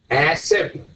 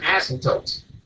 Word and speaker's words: asymptote: I would say it's an asymptote. I would not pronounce the P. He's like, asymptote.